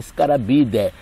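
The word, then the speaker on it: Scarabaeidae: Do latim se escreve Scarabidae, mas se lê Scarabidae.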